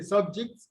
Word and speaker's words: subject: For instance, mathematics is a subject in the school system. Okay, so subject as a noun is stressed on the first syllable.